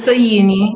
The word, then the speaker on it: Soyini: It's Soyini. You didn't do a bad job.